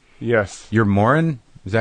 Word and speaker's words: Moran: You're Moran?